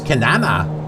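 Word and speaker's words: Kenana: in the v which is canana which rhymes with banana 11 15.40 I'll just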